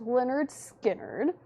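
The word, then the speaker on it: Lynyrd Skynyrd: We've got Leonard Skard, pronounced Leonard Skard.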